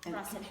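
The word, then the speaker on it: ras el hanout: Okay, so it's RASELHANOUT. Ras al H-A-N-O-U-T.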